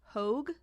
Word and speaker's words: Hoag: And then her mom, Gwen Cromwell Piper, is played by Judith Hoag. I believe is how you pronounce it. Hoag.